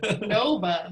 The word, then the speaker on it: NOVA: Nova.